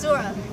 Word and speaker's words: Zohra: Hi everyone, it's Zohra. And guess what I'm wearing? Orange and purple. Get it? Dora the Explorer! Well, people used to call me Dora or Dora the Explorer since it rhymes with Zohra.